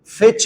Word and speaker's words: fetch: जैसे कि फिच मी coffee फिच मी pizza फिच मी pizza तो आप कह सकते हो फिच मी फिच मी यहां टी साइलेंट होता है टी नहीं बोलते